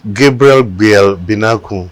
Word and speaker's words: Gabriel Gbel Benarkuu: So, how is the name pronounced? Yeah, the name is Gabriel Gbel Benarkuu.